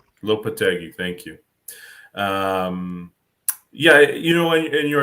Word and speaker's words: Lopetegui: Julian Lopetegui. Lopetegui, thank you.